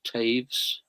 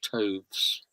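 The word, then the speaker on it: Toews: It's hard to know how to pronounce it. Her name, I think it's Taves or Toves.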